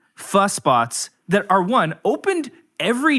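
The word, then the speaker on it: phở: and then secondly in San Diego, PHO. Pronounced pho.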